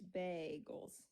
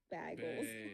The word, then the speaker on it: bagel: Reggie or somebody else somebody told me to say it like a seagull but at the bay and I tried that